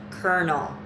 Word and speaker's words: colonel: and sad and stuff if you have pronounced the name of this building as colonel hall or call an al-al-hall you are an error colonel is pronounced colonel a colonel is an officer in the army i know exactly where is the r in colonel questions for review one